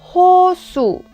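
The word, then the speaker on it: 호수: studied completely in the previous video so I pronounce it Hosu which means lake so we saw that here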